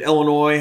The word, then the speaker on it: Illinois: was really stupid that illinois has a silent s at the end of it and and